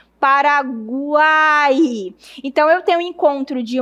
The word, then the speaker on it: Paraguai: Se eu for pronunciar, fica assim, ó. Para cuáai. Veja que o U é um pouco fraco, o I é um pouco fraco e o A é forte. Paraguai.